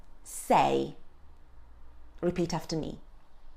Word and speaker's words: sei: So, when at the beginning of a word, the sound of S is comparable to the S sound in soup. So we would say, sei. Repeat after me, sei.